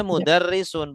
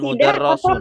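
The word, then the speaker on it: مُدَرِّسٌ: Kalau di bawah syiddah berarti kasroh. Jadi bacanya mudarrisun bukan mudarrosun. Apa Ustaz Sidah itu apa? Tasdid. Oh, Yang ada tasdid. yang huruf double itu. Ya. Nah, ini kan harokatnya di atas huruf, tapi di bawah tasdid. Jadi dia tuh kasroh bukan fathah.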